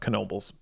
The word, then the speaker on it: Knoebels: it looks like nobles it looks like nobles but it's pronounced knoebels that's a whole nother